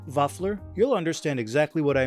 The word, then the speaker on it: vaffler: I'm telling you, once you try these Norwegian waffles, pronounced vafler, you'll understand exactly what I mean.